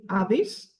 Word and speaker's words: Hades: of the underworld so we have Hades which in Greek we call it AIS our wonderful goddess of